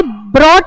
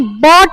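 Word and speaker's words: bought: रेड रेड जाता है बाय ब्रॉट ब्रॉट नहीं बॉट बॉट वो तो ब्रिंग ब्रॉट ब्रॉट होता है बाय मतलब खरीदना बाय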